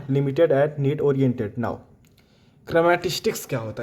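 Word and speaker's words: chrematistics: तो इसका प्रोनन्सिएशन देख लीजिएगा कि पहला है ओइकोनोमिया और दूसरा है क्रेमेटिस्टिक्स।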